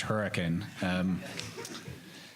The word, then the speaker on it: Hurricane: in very white very Mormon hurricane Utah but pronounced hurricane southern Utah and I go to church with